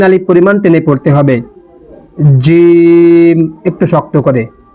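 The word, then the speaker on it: جيم: সা এই অক্ষরটির নাম জিম। এটি তিন আলিফ পরিমাণ টেনে পড়তে হবে। জিম। একটু শক্ত করে। জিহ্বার মধ্যখান এবং তার বরাবর উপরের তালুর সঙ্গে লাগিয়ে এটা পড়তে হয়। জিম।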